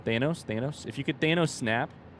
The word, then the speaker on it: Thanos: If you could like Thanos, yes, I know I said it wrong. Thanos.